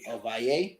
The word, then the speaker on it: Ovalle: Ovalle. Yep. All right. Finally got the pronunciation down, asking him at the after party from the last show.